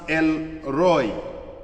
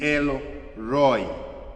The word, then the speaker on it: El Roi: There is pronounced uh pronounced El Roi.